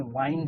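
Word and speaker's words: wind: और इस विंड को विंड नहीं पढ़ते, इस विंड का प्रोनाउंसिएशन वाइंड है, वाइंड। इसको विंड पढ़ते ही नहीं है।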